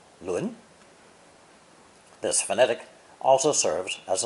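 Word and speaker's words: 仑: the idea of arranging things in proper order, pronounced 轮.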